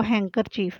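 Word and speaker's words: handkerchief: आगे इसी तरह हैंकरचीफ, डी इसमें हैंड लिखते हैं लेकिन पढ़ते इसको हैंकरचीफ है।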